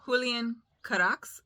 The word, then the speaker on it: Julian Carax: Shadow of the Wind by Julian Carax, I believe is how it's pronounced. It's Spanish.